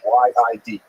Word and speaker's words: Yid: Yid means Jew, so that's a Lithuanian pronunciation. Y-I-D, Yid.